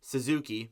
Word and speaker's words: Suzuki: start off here with Nick ZZ with Nick Suzuki sorry that's how you say his name Suzuki